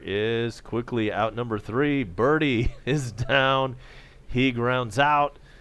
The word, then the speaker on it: Berti: eats and here's John birdy his name is spelled BER T I like Bertie but it's pronounced birdie like as in golf all right so here